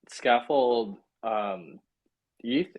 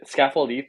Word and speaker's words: Scaffold-Eth: I'm curious, could you maybe talk a little bit about scaffold ETH? Scaffold-Eth is the right way to say Yep.